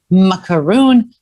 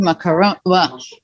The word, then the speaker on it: macaron: i'm like tell me how how do you pronounce it do you say macaroon macaroon macaron so they say in in french of course